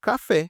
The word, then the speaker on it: café: Como em café, como falei aqui com você, olha. Ela tem duas sílabas, concorda? Ca-fé. A última é mais forte, então ela é oxítona.